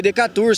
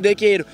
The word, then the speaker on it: Decatur: Decatur, se escreve. Mas aqui o povo chama de dequeiro.